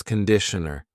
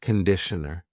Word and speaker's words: conditioner: And this is conditioner. Be careful of the pronunciation. It's not conditioner. It's conditioner. The first vowel is a schwa.